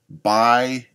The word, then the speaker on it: Bai: Bai water sort of looks like ball water, but I think it's pronounced bai water.